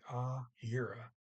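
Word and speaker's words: gjøre: jura ah era sorry ah era um gj is still a y sound um ah era to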